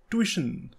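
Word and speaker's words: tuition: भी रख सकते हैं इसकी सही प्रनंसीएशन है ट्यूशन ना की सिचुएशन मतलब कि हाउ टू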